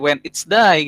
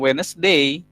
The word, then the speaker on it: Wednesday: Contoh, Wednesday. Nah, akhirnya jadi when it's day gitu kan, bukan Wednesday.